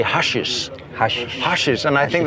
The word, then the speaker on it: Hessisch Oldendorf: I notice Mark that you say Hushes. Hushes. Hushes and I think that's super funny. Hessisch Oldendorf. I mean, it's I don't That's how we pronounce.